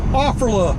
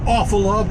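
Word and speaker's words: Offerle: All right, Offerla. I don't think they pronounce it Awfula, but that's the way I've always pronounced it.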